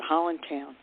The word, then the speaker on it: Highlandtown: section of Baltimore called Highlandtown, or as we in Baltimore pronounce it, Hollandtown.